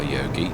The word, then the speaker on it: Jogi: It's a beautiful map by Yogi or I think it's I think it is Yogi. I think that's how in Britain we would pronounce the name. It' be a silent J, I would say.